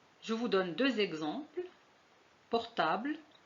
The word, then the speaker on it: portable: مثلا portable, confiture. Je vous donne deux exemples. Portable, vous voyez qu'on a écrit un E ici, mais on ne le prononce pas.